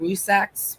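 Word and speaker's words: Rzucek: I know it's more of a Z, Rusaks, but I always try to put the checks in there.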